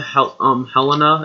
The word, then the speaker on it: Helena: Are we going on the way to Helena? Is that how you pronounce that city?